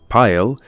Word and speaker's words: Pail: The Pail, that is pronounced in this context as pile, is probably a reference to pile, like when you have a mass of things heaped together.